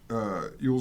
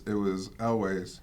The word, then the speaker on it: Elwes: I've always pronounced it Yules or whatever, but then I heard it pronounced, and it was Elways.